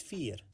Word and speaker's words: vier: 4 in Dutch is vier. The beginning is pronounced like the English letter F, and the ear sounds similar like the last part of the word volunteer, the ear sound. F and ear.